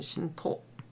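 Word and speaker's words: 神道: 일본 같은 경우 일본에 신도라고 하는 종교가 있죠. 발음으로는 신토. 이건 그냥 거의 애니미즘 수준 아닙니까?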